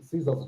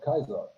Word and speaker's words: Caesar: and all the uh Caesar's Legion NPCs also just say Caesar instead of Kaiser omitted all of that